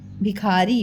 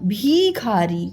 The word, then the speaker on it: भिखारी: की मात्रा लगा दी हम भी खा नहीं बोलते हम क्या बोलते हैं भिखारी इसके मतलब छोटी की मात्रा में उच्चारण में थोड़ा कम समय लगता है ठीक है भी यह